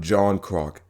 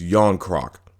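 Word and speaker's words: Järnkrok: do want to apologize it's not john crock it's yon crock i got it now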